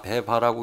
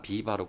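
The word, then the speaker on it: AVEVA: 우선 저희 회사를 소개하기에 앞서서 저희 회사 영문 이름을 보고 배바라고 읽으신 분이 굉장히 많으신데요. 이 자리를 빌어서 이 방송을 보신 분들은 저희 회사 이름을 비바로 꼭 좀 읽어주셨으면 감사드리도록 하겠습니다.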